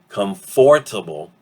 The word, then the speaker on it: comfortable: The OR disappears completely, and that A sound becomes that apostrophe right there. So from comfortable, we get comfortable.